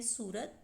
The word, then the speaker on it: صورت: آپ کے سامنے ہے صورت، صاد پہ پیش، واو پہ جزم، رے پہ زبر اور تے پہ جزم۔ تعجب، تے پہ زبر،